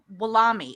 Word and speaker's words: Wolomi: ceo of a of a a company called willamy which i say it right follow me yes